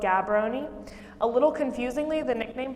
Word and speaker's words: Gaborone: That's how it's spelled, Gaborone, but it's spelled Gaborone.